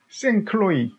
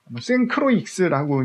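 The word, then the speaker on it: St. Croix: 그렇게 비싸고 고급품은 없어요 다음에 생클로이 생크로익스라고 읽는 분도 있는데 미국에서 생산 미국 자체에서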